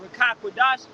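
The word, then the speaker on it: Ruach HaKodesh: And Rakakwadash is how you say a spirit that's holy or Holy Spirit.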